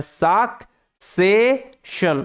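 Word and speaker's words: succession: এখানে double C আছে একটা সি এর উচ্চারণটা ক এর মত আরেকটা সি এর উচ্চারণটা স এর মত কারণটা কি কারণ হচ্ছে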